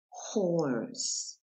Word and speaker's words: horse: Acuérdate que la H se pronuncia J en inglés. Como hello. Entonces, ¿cómo se dice este? Horse. H-O-R-S-E.